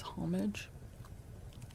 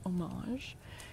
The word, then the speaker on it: homage: Um, I believe the English pronunciation is homage, but the French pronunciation is homage.